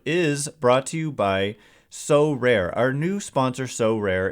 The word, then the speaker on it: Sorare: So Rare recently partnered with MLB All-Stars Juan Soto and Julio Rodriguez to serve as brand ambassadors.